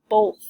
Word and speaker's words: both: Both is pretty tricky because we hear the O making a long O sound, but oath, even though it is closed in by the B and the TH. So it is a little bit tricky.